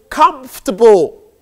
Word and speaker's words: comfortable: Ibrahim, your next word is comfortable. Comfortable. Meaning. For somebody to be comfortable, he is relaxed. The word is often mispronounced comfortable. But in truth, it's pronounced comfortable or comfortable?